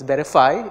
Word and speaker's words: VerifAI: so so veriff ai or we pronounce it as verify is a toolkit that